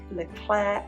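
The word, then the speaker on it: Leclerc: the regular supermarkets like le clerc leclaire as it's pronounced and into marche so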